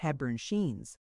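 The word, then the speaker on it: Hepburn-Sheen: On the ground floor are the Mrs. He cyans pronounced Heburn Sheen.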